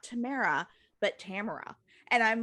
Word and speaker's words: Tamara: who in my head her name is pronounced tamara it's t-a-m-a-r-a right i'm super literal it's tamara um a lot of